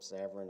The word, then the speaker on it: Savrin: It's really not that hard to pronounce, but nobody likes the VR combination. May it please the court, my name is Savrin.